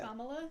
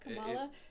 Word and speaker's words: Kamala: mispronouncing her name because it's kamala not kamala but people are calling her cop mala oh yeah or that